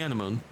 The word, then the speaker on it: anemone: Enemy anemone, enemy anemone, enemy anemone.